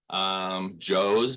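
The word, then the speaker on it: Zhou: But here at the center, we have things like the yellow-headed box turtle, Joe's box turtle, which is spelled Z-H-O-U. It's Mandarin, so it's Chinese, a little different pronunciation there.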